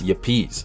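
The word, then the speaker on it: Yepez: can you spell your partner's name please it's yapis spelled y-e-p-e-z first name it's ronaldo it's r-e-y-n-a-l-d-o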